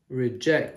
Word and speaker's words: reject: Reject. Now this is a verb in this case. A verb, reject. So we always pronounce the second part with the emphasis.